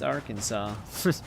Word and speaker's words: Arkansas: beats me all I know is that it's Arkansas Shadows are already moving hopefully it's still lootable